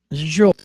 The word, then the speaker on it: Zsolt: Zsolt, the sound that everybody is going to be wondering about, this is the same sound as Jaja Gabor. So if you ever pronounce Jaja, that's the same Zsolt. Zsolt.